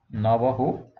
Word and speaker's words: Navajo: Okay, Navajo, Mexico mein J ko H se pronounce karte hai.